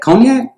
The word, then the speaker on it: cognac: what hennessey konya is that how do you pronounce that cognac cognac cognac cognac yup wait a minute is